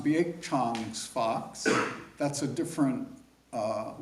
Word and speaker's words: Baek Jang: And it's pronounced Bak Chong Fox.